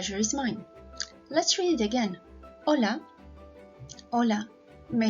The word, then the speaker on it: hola: Did you notice that the H in Spanish language is silent, so we don't actually read it?